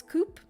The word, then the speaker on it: Coup: the game coup was coup apparently the p is silent um okay so unfortunately